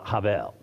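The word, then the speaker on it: הבל: Hebrew actually is Cav there's um almost that H that guttural H sound at the beginning of it and uh probably the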